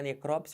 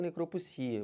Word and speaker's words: necropsia: também a mesma coisa para necrops ou necropsia Os dois estão corretos também aqui falando